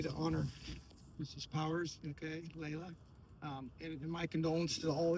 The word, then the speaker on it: Lela: I don't want to be rude, but it's pronounced Lela. Lela.